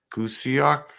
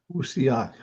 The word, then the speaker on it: Kusiak: Gusiak? Kusiak. How's that? Gusioc. Kusiak.